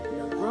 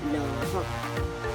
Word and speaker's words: Laurent: Now Laurent, the T here is silent. Now in English, Laurent is Lauren. But in French, E-N, when E, the letter E meets N, it becomes O. That's why you have Laurent.